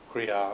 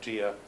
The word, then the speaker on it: Kriya: And when Long-chen-pa presents the Tantras, he begins with Kriya, or Jia, as it's mispronounced, because the Sanskrit comes across as, and it's mispronounced in Tibetan as Jia.